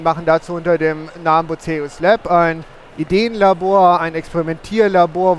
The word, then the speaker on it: Bucerius: Bucerius. Bucerius ausgesprochen, ja.